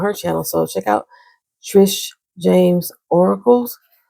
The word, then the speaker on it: Trish James: So check out Trish James Oracles. I always say Trisha, pronounce the E, and James with the I, TJO Oracles.